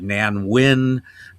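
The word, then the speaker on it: Nan Wynn: You had Evelyn Ankors All Britain uh Nan Wyn uh uh uh Anwyn who rhymes with an win but never mind.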